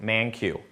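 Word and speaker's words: Mankiw: Buy this guy's textbook, ManQ. That's how you pronounce his name, okay?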